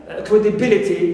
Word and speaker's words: credibility: stress it example like credibility credibility so L is AIX And I stress B here I stress